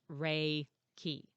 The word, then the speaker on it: Reiki: of different words and it's actually pronounced rey key so um r-a-y hyphen